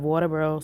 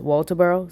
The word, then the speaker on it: Walterboro: 28, 1986, out of Walterboro, South Carolina. And excuse how I said it, like it's really pronounced Walterboro, South Carolina.